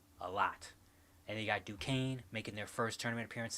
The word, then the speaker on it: Duquesne: It's Duquesne. The S is silent.